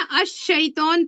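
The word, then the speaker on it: الشيطان: लाम को प्रोनाउंस नहीं करना है। लाम को नहीं पढ़ेंगे। अशर्क पढ़ेंगे। है ना? अश शैतान पढ़ेंगे।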